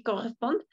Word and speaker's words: correspondent: d'accord au complément correspondent tu l'as bien prononcé corresponde jusqu'à la parce que à la fin on ne prononce mais au complément oui